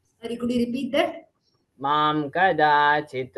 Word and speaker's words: मां कदाचित्: मां कदाचित् It's not mam kadachit, it is mam kadachit. मां कदाचित् मां कदाचित् Be careful while pronunciating the anuswar.